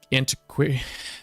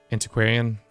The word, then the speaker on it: antiquarian: Maybe it's time to get a antiquator. No, we don't need an antiquator yet. Antiquarian. That's how you pronounce that word.